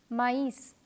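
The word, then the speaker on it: maïs: to illustrate this concept the word ma is is pronounced as me and means but the word M R III ma s which means corn is pronounced as mice so in the first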